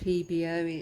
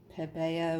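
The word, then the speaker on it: Pébéo: at me now saying no it's not pronounced pbo it's pebeo or something weird like that so i've made sure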